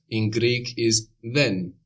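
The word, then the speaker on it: δεν: not in Greek is then then this is spelled with Dela the Greek letter looks like a d or in capitals it looks like a triangle then then so this is like the th sound in the English word then like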